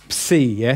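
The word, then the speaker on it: ψῖ: we got this one see see ya think of lips that sound lips but if you say at the beginning the beginning of the word would be like Sidon or pseudo that kind of word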